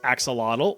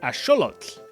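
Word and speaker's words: axolotl: You've probably been saying this as axelottle or aote for my Spanish speakers, but it actually comes from the nawat language. So, it would be correctly pronounced as asholot.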